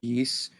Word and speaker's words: Ys: yeah, it's YS, but I believe it's pronounced East or Yeast.